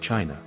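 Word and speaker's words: Qin: dynasty not only gave China its name chin pronounced chin but also left an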